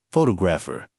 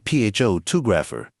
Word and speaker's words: photographer: The stress is on the second syllable, photographer, not photographer, or fo-2-graph-a.